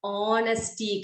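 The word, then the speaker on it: honesty: है अच्छा ठीक है यहां पर साइलेंट है ठीक है इसको हम ऑनेस्टी कहेंगे क्या कहेंगे हम उसको हा ओ एन ए एस टी ऑनेस्टी ठीक है ऑनेस्टी यानी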